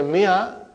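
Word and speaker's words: مائة: In the mia, al if is not pronounced.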